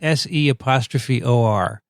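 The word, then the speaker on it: se'or: S-E'-O-R. How would you say that? Seor. Seor, okay.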